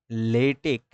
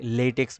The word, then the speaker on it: LaTeX: টিই এক্স এটাকে আচ্ছা একটা মজার বিষয় বলি লেটেক আমি বারবার উচ্চারণ করতেছি কিন্তু আমি কিন্তু লিখবো হল লেটেক্স এল এটিই এক্স্যা তো এইটা আসলে অনেকে লেটেক্স বলে এটা আসলে লেটেক্স না এটার নাম হল